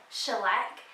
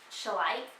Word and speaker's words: Schleich: sure just let you know I used to pronounce it shellac and now and then I learned later that it's shall I but I I said it like shellac for